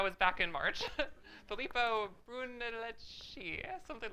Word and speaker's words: Brunelleschi: Filippo Brunelleschi, something like that. But Brunelleschi, thank you.